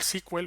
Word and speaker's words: SQL: para ello tengo aquí una pestaña llamada sql squel o sql como lo quieras pronunciar y lo que voy a hacer es